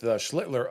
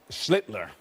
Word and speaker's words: Schlittler: Every single one of you pronounce his last name. You kept first. Schlittler. Oh, well, he's the master. Schlittler. Schlittler. You now your turn. Sound like Hitler.